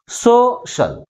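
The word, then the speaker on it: social: వస్తుంది ఎస్ ముందుకు వస్తుంది దీన్ని ఎలా ఆర్టికులైజ్ చేయాలి సో షల్ సో షల్ కాబట్టి ఏ సిలబల్ ఎక్కువ ఫోర్స్ గా పలుకుతుంది ఫస్ట్ సిలబుల్ సెకండ్ సిలబుల్ కంటే ఎక్కువ ఫోర్స్ గా పలుకుతుంది కాబట్టి ప్రైమరీ స్టేషన్స్ ని ఎక్కడ ఉంచాలి ఫస్ట్ సిలబుల్ ముందు అంటే లాస్ట్ నుంచి సెకండ్ సిలబుల్ ముందు ఉంచాలి అర్థమవుతుందా నెక్స్ట్ సెకండ్ వన్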